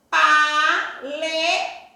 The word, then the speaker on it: paletó: Paletó. O tó está acentuado. Última, o tó. Se é a última, ele vai ser oxítona.